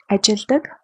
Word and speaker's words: ажилладаг: Even though we write it ажилладаг, ажилладаг with double L, we pronounce it ажилладаг with one L.